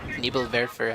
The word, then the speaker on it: Nebelwerfer: Nebelwerfer, actually. Pronounce it closer to German. Pretty sure that's still not right.